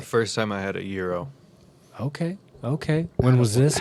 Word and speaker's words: gyro: seen your euro or g euro gyro it's pronounced euro i thought it was guy jackson's euro well